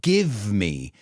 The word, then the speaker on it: give me: we can look at the pronunciation of give me a lot of times we don't pronounce that V we say give me give me give me shelter and man what an